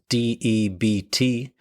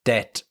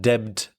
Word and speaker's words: debt: Debt is spelled D E BT but the B is silent so it's debt not debed debt.